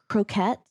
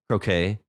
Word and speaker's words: croquet: And also I was curious about the um uh extreme croette. Croquet.